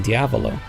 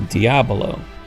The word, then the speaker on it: diabolo: tells us about uses the common mispronunciation in diavolo meaning devil whereas it's normally meant to be Kramer diabolo the game that the